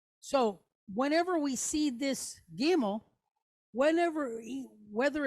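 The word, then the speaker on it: גימל: way or this way, today we just pronounce it like a G. What they call like a soft G, G, right? Not like the G in the word gemstone or gymnasium. They don't have that sound.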